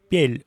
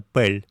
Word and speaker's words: пель: Произносит пель ухо вместо пль.